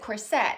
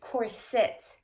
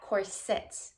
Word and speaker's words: corset: I always said corset, right? Putting the emphasis or the accent on the second syllable.